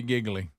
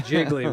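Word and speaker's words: Gigli: Now, you may know we'll Les is teenager number 4 in the hit movie Giggly, or whatever how you say it. Yeah, Jiggly with J-Lo.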